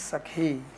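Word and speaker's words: सखी: not know this but male friend is also called sakhi but with a short e it's only that when you make the form it becomes original word is sakhi only if you're female it is long is sakhi and for male this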